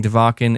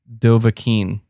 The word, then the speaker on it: Dovahkiin: execute on brett williams you're saying devakin is pronounced dovahkiin i can't take it anymore it's from skyrim the dragonborn is called dovakin whew glad i got